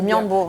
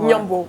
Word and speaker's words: Ndiambour: Je pense que je prononce Niambour. Niambour, voilà, et effectivement.